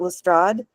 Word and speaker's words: Lestrade: Yes, and that brings me to we're going to pronounce it Lestrade because everybody outside of the series pronounces it Lestrade.